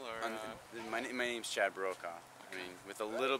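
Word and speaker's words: Brokaw: so it's okay and how do you spell that last b r o k a w like Tom bro Tom bro my dad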